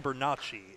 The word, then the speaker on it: Bernacchi: Now, this is Brian Bernacchi is how you pronounce that.